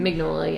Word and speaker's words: Mignola: Mignola, yeah.